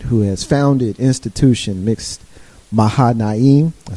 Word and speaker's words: Mahanaim: representing her dad who has founded institution mixed maha nayim i said it right the first time in